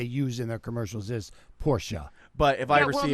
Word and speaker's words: Porsche: People like to say Porsche because they think it's cool. Yeah. But the actual pronounce, the actual pronunciation of it and what they use in their commercials is Porsche.